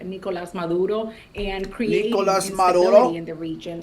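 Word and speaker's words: Nicolás Maduro: She pronounced Nicolas Maduro, correct?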